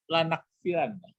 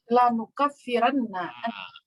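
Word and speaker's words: لَنُكَفِّرَنَّ: Di sini apa bacanya? Lanukaffiranna atau lanakfiranna? Lanukaffiranna.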